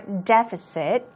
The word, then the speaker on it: deficit: deficit here we go you can say deficit or deficit now especially in British English the stress goes right there on deficit okay deficit deficit so